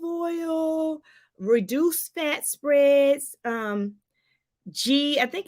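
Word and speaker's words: ghee: reduced fat spreads um g i think it's g-h-e-e i think it's pronounced g oily fish avocados these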